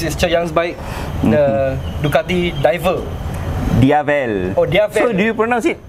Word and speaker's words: Diavel: It's Italian pronunciation for devil, Diavel.